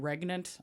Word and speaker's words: regnant: keep saying regent. It's supposed to be regnant. I'm sorry. Regnant? That just sounds Really? wrong. Yeah, it's actually pronounced regnant.